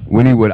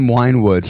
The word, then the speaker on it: Wynnewood: Wynnewood. I kept on saying Winewood. So did I. I kept on saying Winewood. Winewood. That's what it looked Wynwood, like. Yeah. How it's spelled.